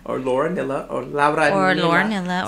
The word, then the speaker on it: Lauranilla: for Magdalena by Lauranilla. Or Lauranilla, or Lauranilla. Or Lauranilla. So I'm not a tortilla, I'm a gorilla.